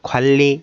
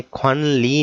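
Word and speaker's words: 관리: छुरिपकुक खल्ली सामुसो, छुरिपकुक खल्ली, ये नियन यहाँ पे साइलेंट हो जाएगा और हम इसको खल्ली सामुसो पढ़ेंगे. ख्वानली नहीं कहना है इसको, खल्ली सामुसो.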